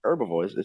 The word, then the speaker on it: herbivore: herb the herbs yeah I heard him say herbivores I know it's herbivores herbivore it's herbivore you think about herbs like herbs no it's herbivore it's herbivore there's an